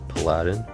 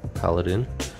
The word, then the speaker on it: paladin: dark paladin and I'm some people pronounce this Aladdin I like to call it paladin I have this guy